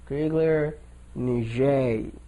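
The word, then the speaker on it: Crigler-Najjar: this case is called craig niger syndrome i don't kriegler and jay sorry grigler niger that's how you say it and syndrome there's a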